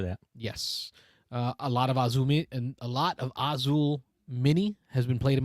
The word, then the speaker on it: Azul: Did I put the emphasis on the wrong syllable?